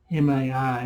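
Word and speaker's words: χαρίζομαι: It shows favor to, I can never pronounce it. It's CHARIZOMAI.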